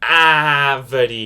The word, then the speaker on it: árvore: But all I'm trying to say is that this letter A makes a more open vowel sound. You're pronouncing the A more stronger. Árvore.